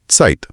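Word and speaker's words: Zeit: इसीलिए जिब्रा बन जाता है सेब्रा जाइट समय बन जाता है सत तो 26 अक्षर तो हो गए लेकिन कहानी अभी खत्म नहीं हुई है।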